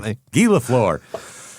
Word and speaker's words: Lafleur: No, but it has what looks like an English word pronounced in a French way, which is hilarious. All right. Right off the back. Guy Lafleur.